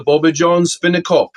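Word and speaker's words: bobbejaanspinnekop: Yes, this is Yeah, this is a boba john spinopul in South African. That's how you pronounce it.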